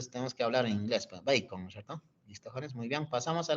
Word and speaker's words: Bacon: sería el señor Francis bacon AC su apellido bac pero se pronuncia bacon cierto mu bien er un economista inglés Tenemos que hablar en inglés bacon listo muy bien pasamos